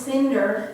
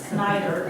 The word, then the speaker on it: Snyder: And that's what I even tell people now when they see our name, S-N-Y, and they say, Miss Cinder. I said, no, it's Snyder. It rhymes with cider, or spider.